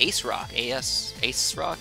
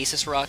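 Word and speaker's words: ASRock: Ace Rock. I don't know exactly how to say it. I want to say Asus Rock, because Asus is the other one, or Asus, rather. But it's Ace Rock.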